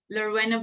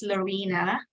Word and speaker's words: Laurena: I would like to State my name laurena but for some people they he pronounce it as Lorena most especially some Americans they say it's laurina and I'm not very